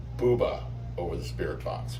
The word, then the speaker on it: Bube: And Eloise Bube said Buba over the spirit box, which is the proper German pronunciation of his name.